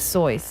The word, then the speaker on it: Seuss: it's not true like soy is his German name correct white people call it Seuss cuz they don't know how to pronounce a German name like stick with that